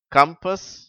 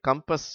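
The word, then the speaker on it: compass: ஏழாம் வரிசை கம்பர்ட் கம்பெனி கம்பஸ் connect country இதுல மூன்றாம் வார்த்தை அது கம்பஸ் என்று தான் உச்சரிக்க வேண்டும் காம்பஸ் என்று உச்சரிக்கக் கூடாது இப்பொழுது நான் இடைவெளி விட்டு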